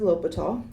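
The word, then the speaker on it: L'Hôpital: steady and the mathematician his last name is lope at all that's how you pronounce it LH OPI tals that's pronounced a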